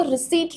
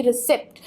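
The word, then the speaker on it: receipt: आपको रिसीट रखना है, ना कि रिसिप्ट। P साउंड यहाँ पे बिल्कुल भी नहीं आएगा, वो साइलेंट है। आप सिंपली इसको रिसीट कह सकते हैं।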